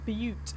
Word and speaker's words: Butte: It's pronounced Butte, not Butt.